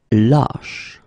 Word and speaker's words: lâche: Same thing here, when you get this circumflex, lâche. Okay, so this a is actually lower or deeper than the previous we had, okay?